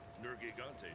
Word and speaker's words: Nergigante: Nergigante, too.